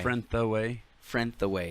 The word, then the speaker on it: Frentheway: pretty much yeah okay friend the way break it into three syllables okay okay but it's not like okay so it's more but there's more like a soft th not a like a